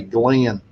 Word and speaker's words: Glenn: and he said hey glenn and i love that it took him two syllables to say my one syllable but he said hey